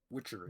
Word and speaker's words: Witchelny: Witchery. You make. Is it supposed to be witchery? Yes. Because it's spelled witch, ELNY.